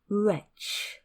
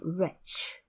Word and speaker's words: wretch: satisfying and peaceful vocabulary a wretch like me wretch pronounced wretch is a miserable unhappy person and like me